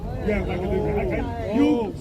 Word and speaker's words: Ouagadougou: Ouagadougou. Ouagadougou. Capital Burkina Faso. Pronounce with a W but spelled with an O. Yeah, Ouagadougou.